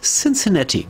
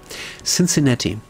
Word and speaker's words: Cincinnati: Ich sage gar nicht mehr, wie ich es ausgesprochen habe. Es heißt Cincinnati. So heißt es korrekt. Peinlich. Asche auf mein Haupt. Asche. Cincinnati.